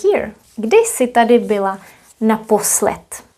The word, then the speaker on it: naposled: If you say naposled, D will be pronounced as T, naposled. Naposled, as well as here, teprv. So keep in mind what we do in Czech, that some consonants at the end will be voiceless.